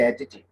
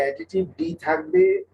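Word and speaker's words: adjective: হ্যাঁ, উচ্চারণটা কিন্তু খেয়াল করো, উচ্চারণটা কিন্তু হচ্ছে অ্যাডজেক্টিভ। উচ্চারণটা কিন্তু অ্যাডজেক্টিভ, ডি থাকবে কিন্তু ডিটা সাইলেন্ট, ডি এর উচ্চারণ করা যাবে না।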